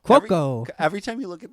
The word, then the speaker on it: Cuoco: Cuoco. Yeah, she's like Cuoco.